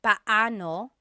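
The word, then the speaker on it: paano: It's technically pano. Pano when there are two vocab or when there are two vowels together, you say them separately. Pano. But when speaking quickly, Filipinos just say now let's practice using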